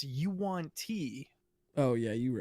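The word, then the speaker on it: yuan-ti: canon pronunciations and and i always called them wontai but it's you want tea oh yeah you right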